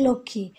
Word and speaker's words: লক্ষ্মী: মফলা কিংবা বফলা যুক্ত হচ্ছে সেক্ষেত্রে কিন্তু তার উচ্চারণটা আমরা পাচ্ছি না, যেমন হচ্ছে উজ্জ্বল, তারপর হচ্ছে লক্ষ্মী।